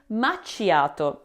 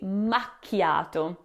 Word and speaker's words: macchiato: So, the incorrect pronunciation of makiato is saying machiato. Uh uh, it should be makiato.